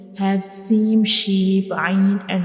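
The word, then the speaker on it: عين: Ain is pronounced from the middle part of the throat, and ghain is pronounced from the upper part of the throat.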